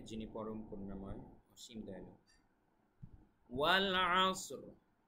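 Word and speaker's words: وَالْعَصْر: ওয়াল আসর, উচ্চারণটা খেয়াল রাখবেন।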